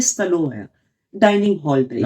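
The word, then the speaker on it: столовая: तो जो एक कमरा है बड़ा, जो रूस में सबसे मुख्य माना जाता है, उसको बोलते हैं स्टलोया, डाइनिंग हॉल टाइप का। फिर एक जी। बार उच्चारण करें। स्टलोया।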